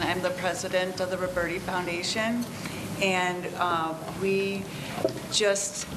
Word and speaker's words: Roberti: Roberti regarding the Roberti Community House am I pronouncing that correctly yes ma'am go ahead that next was going to actually um present for us but my name is Roberti and I'm the president